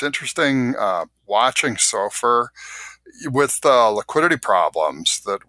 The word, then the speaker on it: SOFR: I got to ask you, George, is there an appropriate pronunciation of the acronym SOFR? I've gone SOFR. SOFR, okay. I've heard Sophie, even though, that's more of a naming convention than actually true to the acronym.